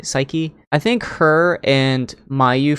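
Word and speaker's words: Saiki: Hopefully, I pronounced it right. Psyche. Psyche. I think it's S A I K I. Psyche.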